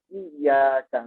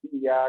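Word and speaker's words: إياك: Tetapi yang jelas pada pengucapan pada ayat surat Al-Fatihah pada iyyaka na'budu wa iyyaka nasta'in. Nah, ini banyak yang keledor karena di sini ada tasdidnya. Sedangkan cuma iya karena itu kurang afdol, isinya kurang pas.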